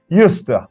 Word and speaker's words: used to: used to remember that used to and used to are usually linked and pronounced yust everyone I need you